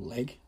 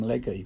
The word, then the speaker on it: Legge: It's actually a Legge or Leg. Never did know how to pronounce it. I'll call them Legge, but I think you can call it Leg.